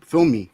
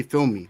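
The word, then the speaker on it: filme: them is um film film me. They say film me. So, film me like like for a movie. So, it's it's like the same thing as film, but they say film me.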